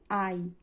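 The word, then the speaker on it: hai: তু আই এইচ এর কোন উচ্চারণ নেই।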